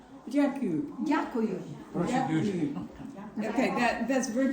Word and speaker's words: Дякую: Дякую. Дякую.